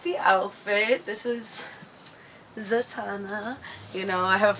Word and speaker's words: Zatanna: Okay, it took me a little bit of time, so it is Zatanna, because in my head I'm like, am I pronouncing it correctly?